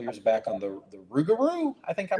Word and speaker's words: Rougarou: And uh I saw one I reviewed one a couple years back on the the Rougarou. I think I'm pronouncing it correctly. Yeah, Rougarou.